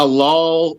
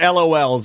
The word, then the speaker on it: LOL: Maisy like it's called lol's I'll help you not L but I I mispronounce it too it's LOL dolls LOL surprise they're all the rage they're